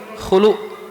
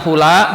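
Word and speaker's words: خلق: Khulu didomahkan lamnya. Jadi bukan hula, bukan hul, bukan huli, tapi khulu.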